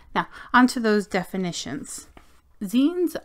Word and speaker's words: zines: on to those definitions Zen are pronounced like magazine without the mega yeah don't say Z please please don't say